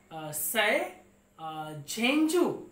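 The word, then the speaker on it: 賽珍珠: She was also known by her Chinese name Se Zhuanzhu. It is Se Zhenju, we can pronounce it.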